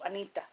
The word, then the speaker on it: Anita: We pronounce like this, Anita.